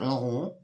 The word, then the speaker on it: Laurent: it's from Yves Saint Laurent, and you really need to pronounce it like Laurent.